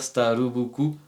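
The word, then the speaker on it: スターバックス: mot c'est une marque ça va se dire starubuku en japonais parce que ben voilà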